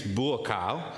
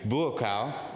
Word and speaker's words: Buakaw: book then there's uh this is hard to pronounce sometimes his name but his name is bua uh do you want to say that with me bua good job that's Tai um so he's a